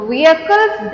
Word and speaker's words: vehicles: are going to learn the definition so the vehicles that we use the vehicles i think there'll be a confusion for the pronunciation of v-e-h-i-c-l-e-s so it's the correct way